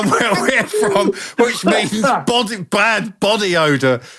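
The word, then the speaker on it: Bough: from which means body bad body odor like you have Buffy armpits I mean wasn't it was spelled b o u g h but it's still pronounced B imagine being walking around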